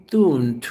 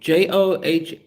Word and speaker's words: Thune: I want to talk to Thune. I want to call you Thune, but it's spelled Thune. JohnThune.